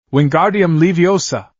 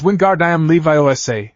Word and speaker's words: Wingardium Leviosa: You're saying it wrong. It's<unk> wingardam Levi Osa. Make the guard nice and long.